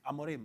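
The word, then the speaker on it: Rúben Amorim: this Ruben amiron uh how how do you pronounce the name Ruben amorim amorim oh that's the one right okay yeah that's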